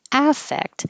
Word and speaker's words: affect: And spelled the same with an A, but now the verb, the stress is on the second syllable. And because the A is not stressed, it will sound like I or effect.